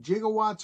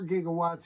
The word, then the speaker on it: gigawatts: I hear Doc Brown's looking for another 1.21 gigawatts or gigawatts, either way. Yeah, Doc pronounces it wrong, they say, from what I understand.